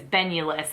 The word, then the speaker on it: Benulus: creator that i love her name is benulus i think is how you pronounce it b-e-n-u-l-u-s i'll link her down below